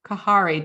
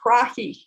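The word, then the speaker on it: karahi: But you have another recipe, and that recipe is chicken kahari. Did I pronounce it properly? Actually, krahi. Krahi. Yeah. Krahi.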